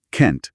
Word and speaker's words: can't: En cambio, can't es fuerte, necesita marcar la negación y se pronuncia can't, con una vocal más abierta, más larga y a menudo una T final clara y explosiva.